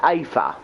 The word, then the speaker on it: Aether: called AFA sx2 a30 spell a Ai and ether but he's pronounced Aether so um encoder does